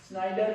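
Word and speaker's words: Snider: एक साइंटिस्ट हुआ, ऑन्टोनियो स्नीडर। स्नाइडर भी कह देते हैं, स्नीडर भी कह देते हैं इंग्लिश प्रोनाउंसिएशन की वजह से।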